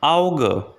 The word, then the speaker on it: Auge: The second letter combination is a, u, which is pronounced like ow. Here we have example word auge, auge, which means I.